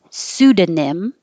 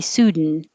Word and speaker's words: pseudonym: it's a good example pseudonym or you can get rid of the da and just say sudan pseudonym or this is probably easier with the d pseudonym it means fake